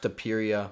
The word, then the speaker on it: Topuria: And you guys all know from the last video, it's pronounced Topuria.